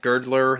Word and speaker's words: Girdler: directed by William uh g gerler g girdler that how how his last name is pronounced um and before I